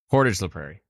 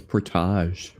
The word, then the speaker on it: Portage la Prairie: but yeah it's Portage someone said it's supposed to be like porridge just think of porridge so now I say Portage Portage la Prairie I always thought it was pretaj yeah Portage like carry